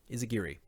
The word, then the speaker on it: Izagiri: I think it's definitely Gear. Izagiri.